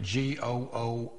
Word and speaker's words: GOOOH: out of the way g o o is pronounced go not goo no that's how we